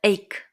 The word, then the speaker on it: ache: we use the word ache so we can see in the first word a c h e sometimes we pronounce it h but it is actually like a k so I have a